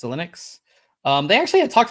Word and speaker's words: Xilinx: news uh by acquiring how do you say this company's name is linux it's linux um they actually had